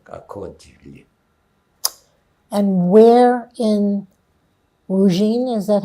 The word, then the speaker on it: Ruzhyn: INT: And where in-- Ruzhyn is that how you pronounce it? EV: Yes, Ruzhyn.